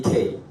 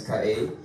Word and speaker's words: Kaey: So if you call me K, I'll meet you outside. But it's Kaey. It's like when you see your favorite car and it kind of surprises you, like Kaey. That's how you pronounce it.